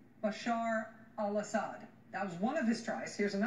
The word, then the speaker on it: Bashar al-Assad: Bashar al-Assad, I know you mispronounced his name a few times, but it's Bashar al-Assad. Bashar al-Assir was the attempt there.